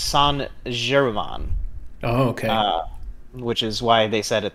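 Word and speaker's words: Saint Germain: of season four oh and adam says it's pronounced san jeremon oh okay which is why they said it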